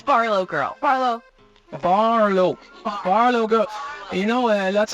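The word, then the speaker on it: BarlowGirl: Can you pronounce it for me? It's Barlow Girl.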